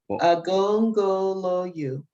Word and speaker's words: Agongoloyu: How do we pronounce Iya Shabi's name again? Agongoloyu. Agongoloyu. Mm-hmm.